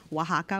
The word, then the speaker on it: Oaxaca: in spanish so like oaxaca with the x is like an h it's it hasn't been